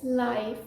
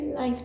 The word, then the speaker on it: live: peaceful life be content the second pronunciation for this word is life which means happening right now happening in the moment so when you're talking about something being telecasted on the TV as it is happening you say life telecast for example the inauguration